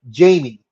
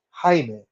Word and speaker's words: Jaime: receptionist that tells Jaime she calls him Jamie and he said no my name is Jaime and she goes okay Jamie now as a person of